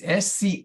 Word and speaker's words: Schofield: Just remember, it's Schofield. The H is silent like the P in swimming.